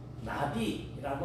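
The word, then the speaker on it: נביא: 전해주는 존재요 그래서 선지자는 히브리어로 나비라고 하는 단어를 씁니다 팔랑팔랑 날라다니는 그런 나비와 발음이 비해 이라고 하는이 말은 말한다고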